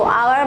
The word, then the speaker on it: hour: तो आवर में H silent है, O का साउंड निकल रहा है, आवर।